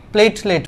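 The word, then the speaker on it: platelet: এই যে বানানটা লিখে এটা ইংলিশে লিখে দেই, থ্রম্বোসাইট, বা এটাকে অনেকে প্লেটলেট বলে, অনেকে প্লাটিলেট উচ্চারণ করে, অনেকে প্লেটলেট উচ্চারণ করে, যে যেটা উচ্চারণ করুক সমস্যা নেই, ঠিক আছে?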